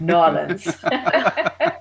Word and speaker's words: New Orleans: It was Irene Nola from Nolans, as they like to pronounce it. I'm not allowed to say New Orleans; it's Nolans in Louisiana.